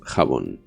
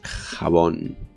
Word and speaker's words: jabón: We use sorry, we use accents, so it's not jabón, it's jabón with an accent on the O.